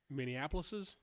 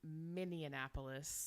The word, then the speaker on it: Minneapolis: I say that wrong minneapolis's um there's just the one minis I've been saying miniapolis yeah like Indianapolis which is not correct it's Minneapolis I was adding an extra syllable but we found their